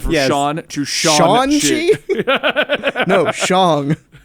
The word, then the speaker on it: Shang: No, Shang. It was a great way to play on the proper pronunciation of the name while mocking the idea that he would go from Shang-Chi to Sean. Right.